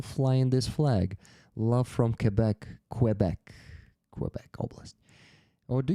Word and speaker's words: Quebec: Um, it is pronounced Quebec. Yes. Without we just say Kbec in Ukrainian. We call it Kabbec. So there's like but kebec in French.